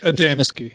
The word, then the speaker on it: Adamski: Adamski, yeah.